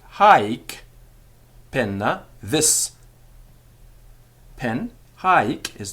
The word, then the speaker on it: haec: peculiar in Latin because they are spelt with one C at the end of the word, but the Roman grammarians are quite clear that they are pronounced with a double C, particularly before a vowel. So hic, haec, hoc, meaning this.